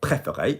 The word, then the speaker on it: préféré: participle, alors mon restaurant préféré, you'll see that there are 3 bloody acutes. Préféré.